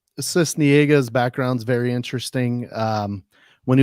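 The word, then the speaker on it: Sisniega: Cisniega.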